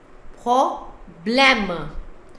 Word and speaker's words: problème: So here it's problem, the spelling with the E ending. If E is not there, then sound is problem because the M is silent. But now E is there, so that M is pronounced as problem.